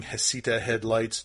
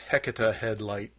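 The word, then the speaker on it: Heceta Head: Like there was a lighthouse that we kept calling Hesita Headlights. Nope, it's Hecata Headlight. Oh well. Like the witch.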